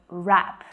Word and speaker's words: wrap: So this word has a cheeky silent letter in it.